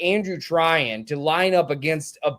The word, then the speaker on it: Trahin: That was Andrew Tryan. Uh, for those wondering the spelling, T R A H I N. He pronounces it Tryan.